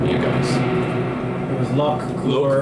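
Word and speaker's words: Lokvah Koor: It was Lock Kur. Lokva Kur. So, how do you spell it?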